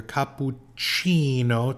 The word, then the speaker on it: cappuccino: two words in here Capuchino C is the CH Chi sound and makato is the k sound makato capucino makato and